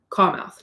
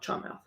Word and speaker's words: Charmouth: to charmouth too I'm I think you pronoun that pronounce that carouth not charmouth and she had bathed